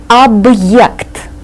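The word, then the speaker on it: объект: in the middle so we have to pronounce this as if it were two separate words AB y AB the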